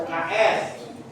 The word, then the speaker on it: UKS: ayo raka contohnya apa u k s Iya. UKS. Coba Pak Acep tulis. Tidak bisa disebut uks. UKS. Tidak bisa dibaca uks. Dibacanya UKS.